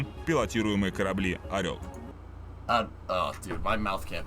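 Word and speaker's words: Орёл: «Союз», а на втором – пилотируемые корабли «Орел».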